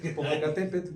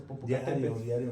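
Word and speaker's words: Popocatépetl: estoy viendo el volcán popocatépet y muchos lo pronunciamos popocatepe Entonces tenemos que empezar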